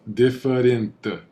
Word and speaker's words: diferente: Diferente. Diferente. Não é diferente assim. And even this I, so the I in Portuguese it sounds like an E.